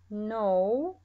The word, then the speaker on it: know: ومثل ما شرحنا سابقا إن no ما أنطق الكي نهائيا.